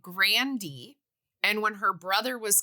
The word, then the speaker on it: Grande: internet says Ariana Grande her family says it Grandy and when her brother was coming up he changed it to Grande so her grand grandfather